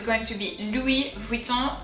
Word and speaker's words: Louis Vuitton: it's going to be louis vuitton let's take care of the first word um so remember oh you is the s is silent and then the second word so here o n louis vuitton let's go